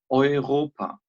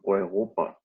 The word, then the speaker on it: Europa: And the answer is, Deutschland ist in Europa. Deutschland ist in Eu Europa. Europa. Deutschland ist in Europa.